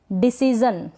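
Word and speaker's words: decision: Next है डिसीजन, क्या है डिसीजन, यहाँ पर भी जन पढ़ रहे हैं, शन नहीं पढ़ रहे हैं।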